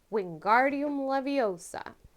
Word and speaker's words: Wingardium Leviosa: professor flitwick's charms class do you know how to say the spell correctly is it a wiggy woodem lavoosa b levitatum wiggleduda or c wingardium leviosa which one is it